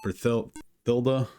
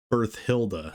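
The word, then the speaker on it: Berthilda: a hat on uh berilda I keep getting her name wrong birth Hilda it's b r like birth and then Hilda weird name um here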